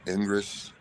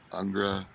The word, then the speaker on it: Ingres: like the neoclassical painters that's Ingress angra I can't pronounce it as French i n g r e s and that's one